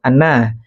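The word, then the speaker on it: أنّ: ya karena kalau dibaca kalau hamzahnya ada di atas berarti bacanya an atau Anna sedangkan Keti a hamzahnya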